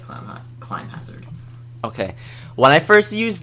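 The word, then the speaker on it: Climhazzard: say Hazard God it's spelled like clim Hazard pronounced like clim climb Hazard okay when I first used that okay some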